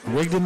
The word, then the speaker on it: Rigdon: That's a great play by Rigdon. Did I say his name right? Rigdon McCall, yeah.